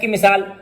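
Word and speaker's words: calm: इसी तरह एफ की मिसाल हम देख लें कि हाल्फ लिखा हुआ है लेकिन पढ़ेंगे हाफ। एम की मिसाल हम देख लेते हैं काल्म लिखा हुआ है लेकिन एल साइलेंट है, पढ़ेंगे काम।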